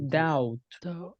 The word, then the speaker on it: doubt: And this one, the pronunciation B, not necessary. Only the T. I doubt.